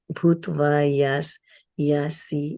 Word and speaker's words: yāsyasi: yeṣāṁ tvam bahu-mato bhūtvā yāsyasi lāghavam. Lāghavam. Yeah, there's a tendency, when I have the tendency to pronounce this as yash, but it's not yash. This is a tongue twister. Yāsyasi.